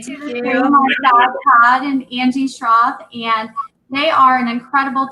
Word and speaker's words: Schroth: No, it's Schroth.